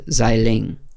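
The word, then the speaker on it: Xialing: All right, I'm pretty sure that her character's name is, I think you do the X, is actually pronounced as a Z. So I think it's Xiling.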